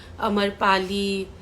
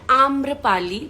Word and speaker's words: आम्रपाली: अभी भी बहुत लोग अमरपाली, अमरपलिया ऐसे सब बोलते हैं। मेरे नाम का प्रोनाउंसिएशन है आम्रपाली दुबे, AAMRAPALI।